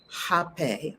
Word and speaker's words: rapé: It says rape, officially written as rape and pronounced as hape.